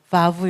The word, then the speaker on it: Vav: Vav 라서 'v' 소리 가 나게 된 거 예요 . 예 . 그래서 Vav 도 모음 으로 사용 됩니다 .